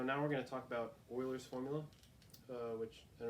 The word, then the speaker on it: Euler: so yeah so now we're gonna talk about Euler's formula which it's pronounced Euler not you or something weird so